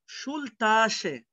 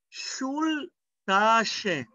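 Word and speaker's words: Schultasche: ما فيش شول بقى، شول تاشي. طب ايه بقى موضوع ش؟ لان انت عارف ان الاس تسي ها بتتنطق كأنك بتقول لحد ش، شول تاشي، شول تاشي.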